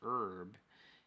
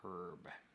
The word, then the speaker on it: herb: The thing that gets me is the word herb in the USA is pronounced as herb in the US as opposed to the H in the UK as herb.